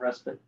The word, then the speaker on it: respite: Enjoy a moment of respite. It's respite, right? That's how you say it. I used to say respite till an English professor corrected me.